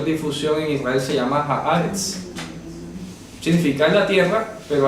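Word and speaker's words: הארץ: Resulta que la palabra haaretz en hebreo, haaretz, se pronuncia haaretz, significa literalmente la tierra.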